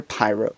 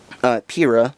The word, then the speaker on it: Pyrrha: someone with power either pirate or cinder Pyrrha sorry I keep pronouncing it wrong to show him how